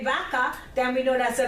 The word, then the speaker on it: vaca: Baka.